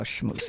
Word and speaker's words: schmooze: You know how schmooze is spelled. SCH like school, MOO like the cow, ZE.